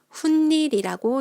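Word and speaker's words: 훗일: 그리고 훈일이라고 읽어요.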